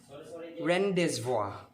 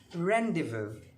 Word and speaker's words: rendezvous: is often pronounced as rendezvous or rendezvous but it's not it's very wrong the correct pronunciation of this word is rendezvous rendezvous an arrangement to meet